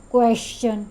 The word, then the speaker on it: question: I don't know why some people call it question. Sh sound is not there. Ch sound is there.